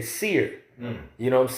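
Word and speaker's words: שעיר: you that is Esau the word in the Hebrew is pronounced or how they would say Seer you know what I'm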